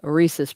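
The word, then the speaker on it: rhesus: For spending on this spel this is spelled R H E S U S. Uh Reese's monkeys.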